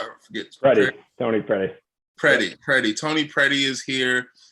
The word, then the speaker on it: Predey: last name i don't forget ready tony freddy pretty pretty tony pretty is here and it is